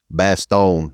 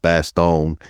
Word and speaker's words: Bastogne: Their latest release is German Infantry, Bastogne, 1944.